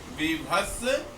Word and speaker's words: बीभत्स: इसको ब का उच्चारण जनरली विभत्स के रूप में लोग करते हैं, किंतु विभत्स सही इसका उच्चारण है।